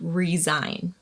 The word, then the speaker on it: resign: quit your job and the s is pronounced as a z sound resign for example my boss did not want to increase my salary so i decided to resign resign with the hyphen